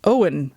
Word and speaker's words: Owen: Centuries later, Owen Mallory Owen Owen, that's how you pronounce his name.